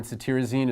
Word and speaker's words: cetirizine: This TIR in cetirizine is pronounced tear, so you can think of tearing from allergy eyes.